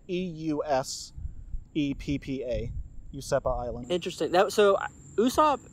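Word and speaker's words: Useppa: supposed pirate stronghold that he had it was usepa that would that's how it's pronounced it's spelled e-u-s-e-p-p-a usepa Island interesting that so usop he has a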